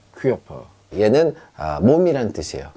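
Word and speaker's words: Körper: 퀴어퍼, 퀴어퍼, 얘는 몸이란 뜻이에요.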